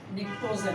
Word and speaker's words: pnictogen: এই গ্রুপের মৌলগুলোকে নিকটোজেন বা লেস রিয়েক্টিভ, যেটার উচ্চারণ হচ্ছে PNICTOGEN, নিকটোজেন বলা হয় গ্রুপ নাম্বার 15 এর মৌলকে।